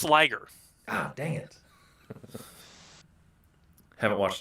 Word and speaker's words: liger: kind of keep the episode lean like a leaguer. Oh, I like that. But it's pronounced Liger.